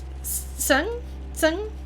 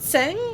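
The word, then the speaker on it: Tseng: the scale is but is it Seng or Sung? Because I thought it was Seng because it has an E, and then I heard people say it differently. And I'm not very good at pronunciations, but I want to try to get as close as I can within the limitations of my accent. So Zach winds up. So it is Sung.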